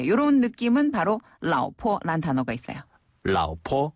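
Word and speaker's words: 老婆: 라오스 할 때 라오. 맞아요. 그리고 그다음에 포. 포는 가볍게 점 찍듯이 포. 라오포.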